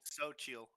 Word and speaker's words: Xochitl: So his name is spelled with an X, and that's in like Oh, like Aztec stuff. Xochitl. Xochitl, yeah.